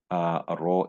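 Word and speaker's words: rho: so that's the density given by the symbol Row in this case so it's just row like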